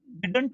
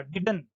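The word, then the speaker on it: didn't: अब ये जो इसका जो प्रोनाउंसिएशन होता है, डिडंट नहीं होता, डिडन, ध्यान दें, डिडन।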